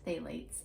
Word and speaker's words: phthalates: there called phthalates and it's spelled with a p um but it's pronounced phthalates and that is often